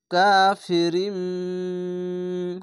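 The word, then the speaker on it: كَافِرٍ: ছোট্ট মিম দেওয়া আছে দুই জের পরে মিম কে উচ্চারণ করতে হবে রিম কাফেরিম গুন্না হবে এভাবে বা জের বি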